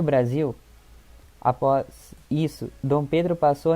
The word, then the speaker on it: Brasil: O Brasil, a única coisa que muda é colocar o Z no lugar do S na palavra e a pronúncia, que a gente fala Brasil.